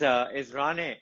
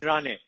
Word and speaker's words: Ranney: How do you pronounce your last name? My surname is Rane.